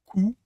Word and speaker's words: cou: If you make it round, cou, that's neck.